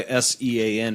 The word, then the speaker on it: Sean: uh well it's the same reason why s-e-a-n is Sean that's the same language